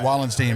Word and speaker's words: Wallenstein: I'm going to call you Josh Wallenstein because that's the proper way to say it. Although I never know. There are Steins and Steens, and it's difficult to see, or to tell.